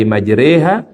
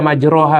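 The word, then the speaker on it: مجريها: Enggak boleh dibaca majraha Bu. Betul. Itu tulisannya kan majroha. Itu kalau tulisan harfiahnya bismillahi majroha. Tapi cara bacanya bukan majroha, majriha.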